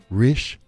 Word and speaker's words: Risch: Joining me now, Jolene Risch, the founder, and Nadine, Jett, the director of recruiting for Risch Results. Did I pronounce that right?